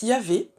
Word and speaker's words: Yahvé: Alors, le tétragramme qu'on prononce Yahvé, c'est le nom le plus employé dans l'Ancien Testament.